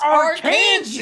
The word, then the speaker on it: Arkansas: pronounced pronounced Arkansas, Arkansas, you idiot.